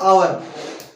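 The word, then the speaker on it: hour: हमने मब इसमें क्या है अब ये हमारी साइलेंट है कि हावर नहीं क्या लिखा है आवर नेस्ट नहीं ऑनेस्ट हॉनरेबल नहीं नरेल तो इनके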